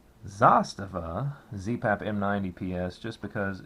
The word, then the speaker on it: Zastava: would recommend the the Zastava uh zasta God I keep saying it wrong Zastava zpap M90 PS just